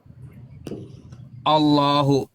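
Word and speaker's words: الله: Jadi kosakata Allah itu kalau diawali dengan fathah dan domah dalam bahasa Arab itu dibaca tebal gitu. Tapi kalau diawali dengan kasrah dia tipis bacanya.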